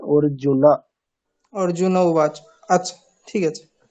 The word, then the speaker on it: अर्जुन: এখানে কিন্তু হসন্ত দেওয়া নেই, মানে কি একটা অকার আছে, হ্যাঁ ন হ্যাঁ। প্লাস অ, তাহলে প্রোনাউন্সিয়েশনটা কেমন হবে? অর্জুনা।